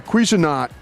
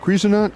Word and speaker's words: Cuisinart: They're looking also for a Cuisinart. I think I said it right. Cuisinart.